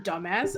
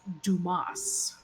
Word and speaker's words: Dumas: to him and says, my name is pronounced Dumas. Right. It's Dumas.